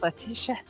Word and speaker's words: Letitia: Letitia. Letty, I was gonna that's say right. Letitia. Oh. No, he's got to say it like Morticia. Letitia.